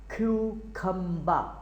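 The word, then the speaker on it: cucumber: ये देखें कि स्पेलिंग के लिहाज से ये है क्यूकम्बर, लेकिन अगर इसको आपने बाकायदा सही तलफ़्फ़ुज़ जो है वो है क्यूखम्बा, क्यूखम्बा।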